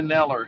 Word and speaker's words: Kneller: Kneller. He pronounces the K and the N.